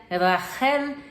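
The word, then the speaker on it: רחל: irmãs Raquel e leia Raquel se pronuncia Rachel e significa ovelha e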